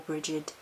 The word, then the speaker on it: Brighid: So the spell oil is Mistress of the Mantle for the goddess Brighid, or Brighid, depending on your pronunciation.